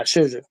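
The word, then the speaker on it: Scherzer: Yeah, Sherzer.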